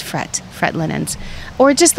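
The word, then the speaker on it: Frette: they have I say I'm saying it wrong frede Linens but she's Italian says it's fret Fred Linens or just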